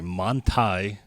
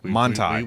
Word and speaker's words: Manthey: It's the Manthey GT3. And that is the way to pronounce it. Manthey.